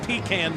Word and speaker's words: pecan: How do you say that word? Pecan. Pecan is what you say by pean. Hey, man. Whatever.